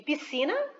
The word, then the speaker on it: piscina: Depois, com SC, eu coloquei o exemplo de piscina e nascer.